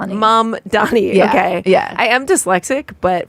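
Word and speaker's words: Mamdani: Mom dami. Mom and Donnie. Mom. Donnie.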